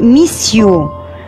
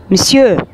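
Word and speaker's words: monsieur: هو احنا بقينا نقولها باللهجة المصرية كتيرة بنقولها ميسيو، بيقولوها ميسيو، ميسيو غلط خالص، اسمها مسيو، مسيو، مسيو. هي مخطوفة كده على بعضها، دي مش هنعرف نجزأها. مسيو، بونجور مسيو، مساء الخير سيدي هنقولها.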